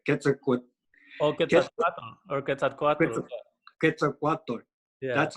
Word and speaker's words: Quetzalcoatl: Quetzalcoatl. Yeah. That's how you say it. Yeah. I might And not that's even be pronouncing it right, but yeah, it's uh, and